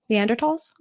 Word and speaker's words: Neanderthals: Neanderthals? Neanderthals. Neanderthals? Yes, that's how you pronounce it. No, the H is silent. It's Neanderthals. Oh.